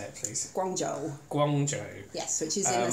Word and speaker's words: Guangzhou: Guangzhou.